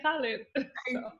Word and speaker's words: Khalid: i can tell people my last name is pronounced khaled you said then i was